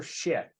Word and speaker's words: Szyk: Today, coming up on June 3rd, we're going to be doing a presentation about Arthur Szyk, and that's spelled S-Z-Y-K, although it's pronounced like the razor.